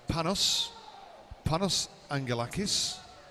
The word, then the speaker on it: Panos Angelakis: And I believe it's now pronounced Panos Angelakis. So his mum says.